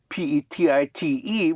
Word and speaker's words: petite: So you add an E for feminine and you pronounce the consonant.